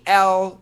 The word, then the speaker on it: al: So al, it's a short A with the L sound.